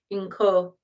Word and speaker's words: Inkosazana: It's a small I though, so I think you kind of swallow it. I think it's pronounced more like Inkosazana. Small I, Nkosazana, in case you'd like to look her up.